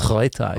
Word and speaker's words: Reuter: How do you pronounce it? Reuter. Reuter, ja.